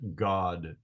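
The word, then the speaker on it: Gad: said a troop comes the word troop is the Hebrew word God and it would be spelled g a d but pronounced God uh don't get that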